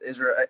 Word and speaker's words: Israel: Is I want to make sure I'm pronouncing your name right. Is it Israel or Israel? It's Israel. Either way, man. I like Israel, whatever, however you want to say it.